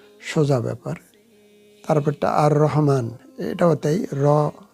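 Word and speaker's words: الرحمن: না সোজা ব্যাপার তারপরটা আর রহমান এটাও তাই র হল শামসা হরফ এজন্য লামের উচ্চারণ হলো না আর রহমান আর রহমান আল আল রহমান হবে না আর রহমান পরেরটা দেখুন কামারিয়া কামারিয়া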